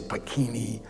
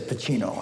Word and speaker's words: Pacino: pronounced my name right they always used to say bikini or Pacino he said Pacino and I thought okay